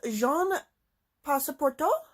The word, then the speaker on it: Jean Passepartout: And the main narrator of the book is Jean Passepartout, I think is how it's pronounced.